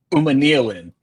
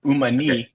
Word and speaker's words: Umanmielen: It's Princely Umanmielen. The way I say it is like you got to start it like you fell. Umanmielen.